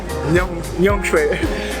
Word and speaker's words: Nyaung Shwe: Nyongshui.